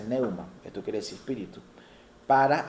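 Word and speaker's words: pneuma: esta palabra y en el griego es se pronuncia neuma, esto quiere decir espíritu.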